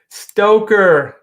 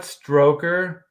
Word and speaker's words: Stoker: that drew Killa trakula stroker Stoker not stroker stroked errs what old